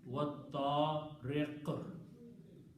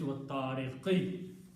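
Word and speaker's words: والطارق: At the end it is wattariq. Okay, first one is still was samai because you're not stopping there. But on the second one you are stopping, so you're pronouncing wattariq. Otherwise it's wattariqi.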